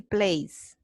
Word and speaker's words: plays: and CDs that he can use when he plays. Okay. Right. CDs. Plays. Zzz. Okay. Like a bee, right?